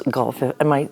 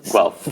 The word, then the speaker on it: Guelph: Let's go back to or how do you pronounce Guelph? Guelph.